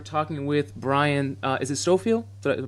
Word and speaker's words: Stofiel: Is it Stofiel? Did I pronounce that right? Stofiel. Stofiel.